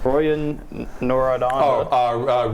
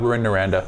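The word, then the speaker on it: Rouyn-Noranda: and I'm not even going to try to pronounce that one. Royan Noradon. Ruin Noranda.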